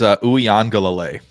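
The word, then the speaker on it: Uiagalelei: Ugalele or something like that. I got you. How do you say it? It's Uyangalele. So it's Uyangalele.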